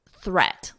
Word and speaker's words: threat: Now we have threat. Listen to the vowel, et, eh, eh, et. So it's the same as this. If you can isolate the vowel in de before you add the d, it's that eh, eh. So you can think of it as eh, eh, eh, dead, thre, eh, threat. Eh, eh, threat.